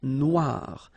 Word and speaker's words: noire: Then here, la mer Noire. Same thing here that we had previously. Final not pronounced, okay? And then OI, remember, wa, noir.